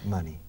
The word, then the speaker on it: money: La palabra dinero se pronuncia money, money, money, money. Y rima con gracioso, funny.